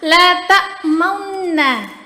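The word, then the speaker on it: لَا تَأْمَنَّا: Nah, la ta'mauna. Jadi itu cara bacaan yang benar.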